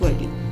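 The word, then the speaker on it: वारली: इसका actual pronunciation वार्ली ही होता है इंडियन उसमें, लेकिन इंग्लिश में जब हम लोग बोलते हैं तो कई बार इसको वर्ली भी बोला जाता है, but that is not correct. वार्ली इज़ the exact pronunciation of this art form.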